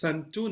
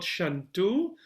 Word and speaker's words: santu: Sarve Santu Niramaya. Sarve Bhadrani Pashyantu Ma Kashit Dukha Bhag Bhave. And remember, it's the word, the second line is sarve, is santu, not shantu.